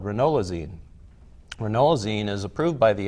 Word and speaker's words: ranolazine: is a drug called ranolazine ranolazine is approved by the FDA for treatment